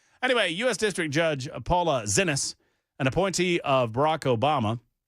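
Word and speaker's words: Xinis: X I N I S. The X is going to be present like a Z at that point, right? Zenus.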